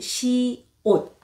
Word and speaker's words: 시옷: 여러분들이 공부하실 때 주의하셔야 될한 가지는 이름이 시읒이 아니고 시옷이라는 겁니다. Not 시읒. You can pronounce it correct. 시, 옷. 이옷할때 옷입니다.